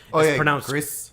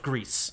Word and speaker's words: Gris: Greece. It's pronounced Greece.